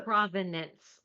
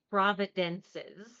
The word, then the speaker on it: provenance: And of course, I'm gonna mispronounce it, but Provenance. Like, so the he keeps Providence. calling it Providences.